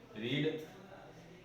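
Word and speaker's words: read: इसे रीड पढ़ते हैं लेकिन इसे रेड पढ़ते हैं.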